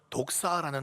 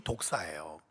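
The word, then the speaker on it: δόξα: 영광이라는 단어가요, 헬라어로는 독사라는 단어예요. 뭐 살모사, 뭐 그런 독사를 말하는 게 아니고요, 발음이 독사예요.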